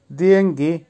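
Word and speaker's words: деньги: ভাইনা, ভাইনার অর্থ হবে যুদ্ধ বা ওয়ার, উচ্চারণ হবে ভাইনা। আবারও বলছি ভাইনা। দিয়েঙ্গি, দিয়েঙ্গির অর্থ হবে টাকা বা মানি, উচ্চারণ হবে দিয়েঙ্গি।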